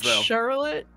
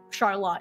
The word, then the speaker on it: Charlotte: I mean, obviously, there is a Charlotte in Michigan, but it's pronounced, you know, Charlotte, even though it's spelled like that.